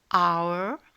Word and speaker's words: hour: Par exemple, hour et ses dérivés hourly, hour, l'heure, hourly, hour. Autre exemple où la lettre H ne se prononce pas, heir, heiress, donc heir, un héritier, heiress, une héritière.